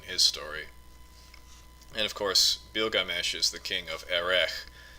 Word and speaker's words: Bilgames: gilgamesh in general so in the sumerian texts instead of starting with a g the name starts with a b so it's called bilgames and it you know there's uh probably there is a sound at the end but it ends with just a plain letter s so the first one